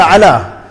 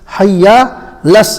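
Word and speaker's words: على: So people, when they pronounce, they miss out the ayn on the ala. So they would read it, hayya ala salah, hayya ala salah, hayya las, and they would completely miss out the ayn.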